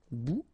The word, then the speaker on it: bout: Remember, final T not pronounced. Un bout.